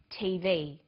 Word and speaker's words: TV: read-only memory notice that each letter in the abbreviation is pronounced separately but the last letter is pronounced more strongly because it carries the primary stress so we say us